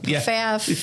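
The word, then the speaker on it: Pfaff: do you spell that PF a FF everybody says it wrong faf yeah right yeah wow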